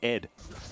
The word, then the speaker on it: ADD: And you're supposed to pronounce it Ed.